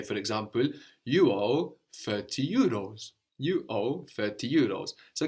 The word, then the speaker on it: euros: You didn't pronounce the last S, you left that off. And also here we have EU, like in the, like in peu.